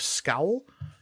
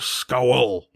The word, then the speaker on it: Scowl: this is operations Chief scowl and the Lichen man will and say it's pronounced skull pleasure right sorry sorry